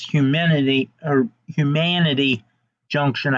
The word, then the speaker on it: Humanity Junction: Human City Junction. I'm just saying that because he's got the C in there, but it's Humanity Junction, I believe, is actually how you're supposed to pronounce it.